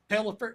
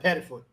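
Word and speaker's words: Pettiford: Um, uh, uh, Tad Pelifer. Uh, uh, from Auburn. Pedford.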